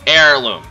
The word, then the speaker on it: Heirloom: Amazonas heirloom or heirloom I'm sorry heirloom the H is silent my bad amazoness heirloom